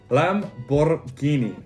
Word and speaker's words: Lamborghini: next up we've got lamborghini italian pronunciation lamborghini italian needs to have that emphasis and that rolled r i don't make the